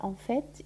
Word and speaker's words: en fait: هنايا le t تاع en fait يتنطق دونك même si ما كانش e بعده ولكن نقولوا en fait يعني في الواقع مانيش متأكد انه المعدة تاعي هي التي تؤلمني.